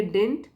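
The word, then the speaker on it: didn't: lieutenants advice डिंट matter तो जब यह कॉन्टैक्टेड फॉर्म में हम पढ़ते हैं तो बोलेंगे डिंट सेकंड वाला डी साइलेंट हो जाता है अगर इसको खोल के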